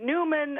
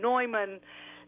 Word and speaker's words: Neumann: gonna coalesce upon mine my name is usually pronounced Norman Newman I respond to you Norman is more is really more correct and and now that